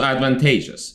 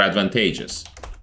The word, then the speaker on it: advantageous: Also advantageous. It means beneficial. Beneficial, yeah. But you say it like you are saying advantages, like advantage as a noun, and then you are giving it s.